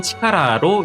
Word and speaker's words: 力: 힘력자는 훈독으로는 치카라로 읽습니다.